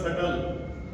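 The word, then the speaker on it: subtle: एक और होता है एस यू बी टी एल ई अब ये सटल नहीं होता था ये बी इसमें साइलेंट रहेगा ये हो जाएगा सल यानी बहुत ही छोटा सूक्ष्म।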